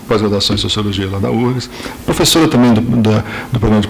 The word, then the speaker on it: UFRGS: Ela é professora, como todos sabem, no Departamento de Sociologia da URGS, né? Aliás, URGS, ela começou não se pronuncia o F, porque ela começou como uma universidade estadual do Rio Grande do Sul, não é isso?